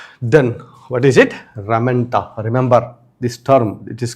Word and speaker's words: ramenta: They are covered externally by ramenta. Then, what is it? Ramenta.